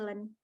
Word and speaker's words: ln: Nah, kalau natural, lambangnya dengan len nih. Ini bacanya len.